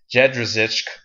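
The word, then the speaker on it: Jędrzejczyk: Claudia Gadella versus Joanna, and let me help you pronounce this, Jedrzejczyk.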